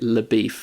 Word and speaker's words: LeBeouf: to this odious character whose name is LeBeouf, but he pronounces it LeBeef.